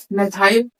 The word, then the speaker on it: मेथाइल: मिथाइल या फिर मेथाइल जो उच्चारण में आपको जो करना हो कर सकता है। चाहे इसे मेथाइल पढ़ लो या मिथाइल कोई दिक्कत नहीं।